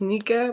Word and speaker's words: Nika: So your name's Nika or Nikeo? Nikeo. How should I pronounce that? It's Nika, but you can call it whatever you want.